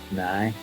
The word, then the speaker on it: now: If you're from Belfast, nearly every sentence will end with now, only it's pronounced nigh.